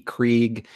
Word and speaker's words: Krige: I don't know how you pronounce it. K-R-I-G-E, Krieg.